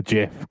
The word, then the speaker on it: GIF: mean we all pronounced we all pronounced GIF wrong because the guy who created the GIF calls it a GIF.